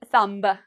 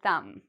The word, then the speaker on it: thumb: Now, what do you notice in the spelling of this? You're going to notice a pattern here. We have M. So do we pronounce the B? No, we do not pronounce the B. So we don't say thumb. No, we say thumb.